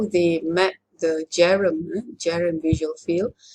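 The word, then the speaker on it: Bjerrum: Okay, so this is how they map the Jerem visual field. The B is silent, okay? It's Jerem, not Bejerem, it's Jerem.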